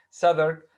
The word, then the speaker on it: Southwark: It happened in that season that one day in Southwark, this is the pronunciation of this. This is a place, a small place in London, a district in London, Southwark.